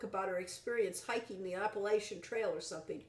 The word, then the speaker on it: Appalachian: Or Appalachian, depending on who you ask. Appalachian, yes. Whoever heard that? Yes. We were told that Appalachian is the only correct way to pronounce it by an author, and no, to us it's always been Appalachian.